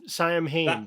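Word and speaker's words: Saim-Hann: Yeah, I was always leaning towards the Sam Hain-esque interpretation of pronouncing that, which is also the wrong pronunciation of Sam Hain.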